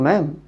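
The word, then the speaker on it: ma'am: तो मैडम ना बोलते हुए हम जो डी है बीच में डी, उस डी को हम साइलेंट कर देते हैं और हम बोलते हैं good morning मैम, good morning sir.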